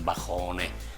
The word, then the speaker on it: balcone: Ecco la spirata ancora, la scrittura, la grafia è su balcone, in realtà poi la pronuncia nostra è su bajone nel nostro dialetto atissi.